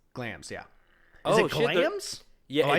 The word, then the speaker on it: Glamis: Oh, Is it Glams? Yeah, I it's typed in pronounced- Glamis. No, it's written Glamis. It's Okay. pronounced Glams.